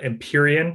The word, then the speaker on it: Empyrean: june so only a couple weeks away uh empyrean if i'm pronouncing it correctly that's right yeah perfect uh